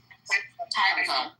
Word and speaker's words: Haifa: Haifa.